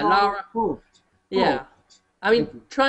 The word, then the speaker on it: Lara: Laura Croft. How do you pronounce it, Jim? People always get angry at me from this. Lara Croft. Laura Croft. Yeah, Lara.